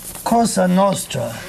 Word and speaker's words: Cosa Nostra: Well, Cosa Nostra is the correct pronunciation in Italian, and literally means our thing.